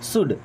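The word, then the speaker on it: should: है मैं या मुझे शुड यहां पे एल साइलेंट शुड मींस चाहिए कुक भाई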